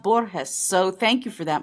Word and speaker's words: Borges: It's pronounced Borges.